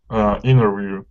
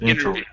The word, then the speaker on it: interview: That's why you say interview, not interview. Exactly, interview.